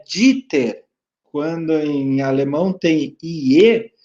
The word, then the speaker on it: Dieter: com K e um S só, Dieter, mas se pronuncia Dieter. Quando em alemão tem IE, se pronuncia só o I. Dieter.